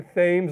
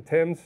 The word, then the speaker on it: Thames: They're all on the Thames River. By the way, it's not the Thames. Those British people talk funny and they call it the Thames.